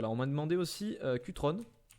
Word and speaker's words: Cutrone: On m'a demandé aussi Cutrone. Je prononce à la française, hein. Mais plutôt Cutrone à l'italienne.